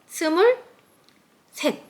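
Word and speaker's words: 스물셋: sumul native Korean number and three in native Korean number hana dul set sumul set Right.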